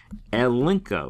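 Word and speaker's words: ἐλέγχω: Remember, when you have a gamma and a kappa together, it's a unk sound. It's a unk sound. So that's why we say elinko, elinko there as we pronounce that.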